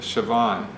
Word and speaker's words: Siobhan: And they say it Soibhan with Yeah. a V, so Yeah. it's a very interesting pronunciation.